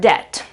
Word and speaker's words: debt: letter in the word same goes for the word debt debt.